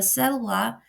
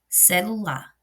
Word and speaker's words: celular: Quando nós falamos celular, celular, eu coloco mais intensidade na segunda sílaba, no meio, né? Celular.